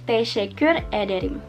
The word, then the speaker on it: teşekkür ederim: Nanti aku tulis teşekkürler atau teşekkür ederim, tulisannya kayak apa, dibacanya teşekkürler sama teşekkür ederim.